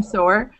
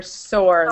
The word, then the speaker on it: sore: I'm sore. Sour is like when you, like a lemon, like. Sour versus sore. Sour sounds like this. Sour versus sore or sore like that. Sore. Yeah. Little pronunciation difference.